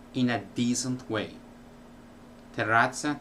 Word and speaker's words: terrazza: Terrazza, terrace became tazza, which is cup.